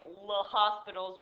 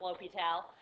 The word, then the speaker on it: L'Hôpital: Yes, it looks like Le Hospital's rule, but it is pronounced L'Hôpital.